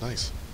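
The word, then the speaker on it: gneiss: would be stupid because his name is nice no it's g-n-i-s-s you're nice thank you you're welcome that's how you pronounce it girl oh it is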